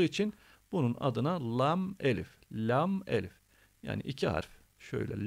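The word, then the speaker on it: لا: Bunun adı la Elif bu da lam gibi okunur fakat uzatılarak okunur Neden Çünkü bir tarafı Lan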